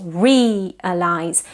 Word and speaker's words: realize: four the word realize stress on the first syllable realized not realized but realize